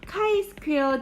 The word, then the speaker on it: 카이 스퀘어: 자, 한편 카이 스퀘어 디스트리뷰션이라는 거는요, 이게 그 그리스 언어고요. 카이 스퀘어라고 읽습니다.